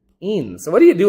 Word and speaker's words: ene: So pent 3 ene. Keep going for me. 1 ine. And we never put the final E till the very end. So it's not, but that's still pronounced ene, not N.